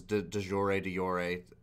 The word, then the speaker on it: de jure: So, de facto versus de jure, everyone says de jure, but technically in Latin, the J is silent, so it's de jure.